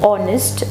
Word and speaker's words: honest: As I have said that honest, just like our, is pronounced as honest with the word beginning with O. This H remains silent.